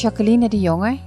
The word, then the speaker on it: Jacqueline de Jonge: Yeah, the real name is Jacqueline de Jonge. It is very Dutch, and this is the way you pronounce it.